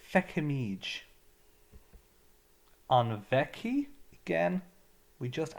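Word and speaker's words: feicimid: Or some people would pronounce this with the F, they'd say fecfamige. Most people would say fecamige.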